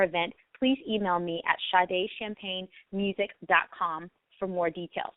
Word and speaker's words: Sade: thoughts tweet me at shade champagne Facebook me at shade champagne or Instagram I am shade champagne it's spelled sh like the singer s a d and champagne like the